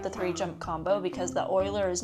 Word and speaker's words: Euler: of giving up the 3-jump combo because the oiler is not worth that many points when you're doing triples, but it allowed her to do another triple.